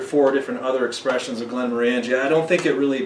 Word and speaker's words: Glenmorangie: listen to videos online people from Scotland will say Glenn Warren ghee Glen Warren G but we prefer not